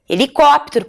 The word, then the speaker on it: helicóptero: também começam com h helicóptero por exemplo Tá mas a primeira letra que nós pronunciamos seria é o e mas começa com H então higiene começa com